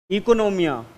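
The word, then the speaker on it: oikonomia: तो वो इसे क्या बोलते थे ग्रीक वर्ड में, क्या बोलते थे, इकोनोमिया। हाँ ओ साइलेंट है, ठीक है।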